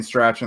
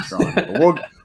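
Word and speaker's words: Strachan: mike strawn's name and if you've been saying stretching like me then now you know it's mike strong we'll get to that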